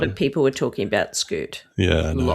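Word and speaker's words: Skute: So that was Scoot. So it's spelled S K U T E.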